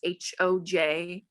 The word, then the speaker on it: Hoj: I've heard it's called Hay, but it's HOJ.